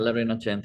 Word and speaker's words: La Rinascente: I may not be pronouncing that quite right, if I'm Yeah, not. La Rinascente, yeah, La Rinascente.